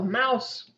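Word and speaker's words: Maus: veterans from anyone also Mouse it looks like moss is the German word for mouse is uh pronounced the same way it is a graphic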